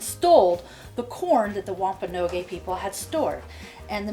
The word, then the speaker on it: Wampanoag: In 1620, when the Mayflower landed at Plymouth, the Wampanoag is how you pronounce it.